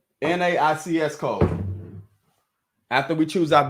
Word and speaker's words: NAICS: So NAICS code, I'm going to pronounce it NAICS.